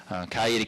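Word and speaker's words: Coweta: I am the senator from the 28th District from Cayeta County, as we pronounce it down there, the Noonan area.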